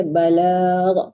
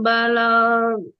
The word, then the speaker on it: البلاغ: على الرسول إلا البلاغ Panjang Wallah, balag. Jangan balak aja, balag. Panjang ya, Bu Adik. oh ya panjang. Ma'alar rasuli illal balag.